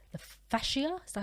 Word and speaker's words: fascia: And then they'll reach what's called the fascia, is that how you pronounce it?